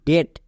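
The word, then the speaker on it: debt: গেল তাহলে কি হলো ডি ই বি টি ডেট বাট আমরা এম এবং টি এর পরেই বা আগে কেন বসাচ্ছি কারণ আমরা সাইলেন্ট লেটারে শিখে এসেছি যে এম এর পরে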